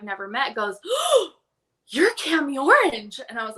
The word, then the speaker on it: Kami Orange: good good morning that's that is the correct pronunciation of your name Cami orange is that correct yummy orange yep now my